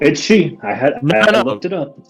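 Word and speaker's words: Sidhe: to put in her place that's how it's pronounced man it doesn't make sense no that one's Sif right s-i-t-h nope it's she s i d h e is she yep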